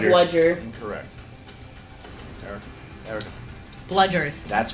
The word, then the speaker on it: Bludger: Bludgers. That's correct. Okay, good. I threw the D in there. Yeah. I was like, I don't want to make it seem like it's bluggers.